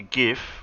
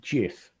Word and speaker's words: GIF: enough did i say gif correctly sir why do some people say it wrong some people say jeff well it's not a j that's a g tomato tomato no not